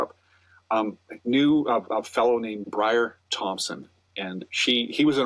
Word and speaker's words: Briar: What, it's Brian? It's Brian. No, it's Briar.